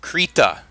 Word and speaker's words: Krita: hop over to to creat ax I think that's how you pronounce it it's kind of like Rita I'd imagine with a K the K I believe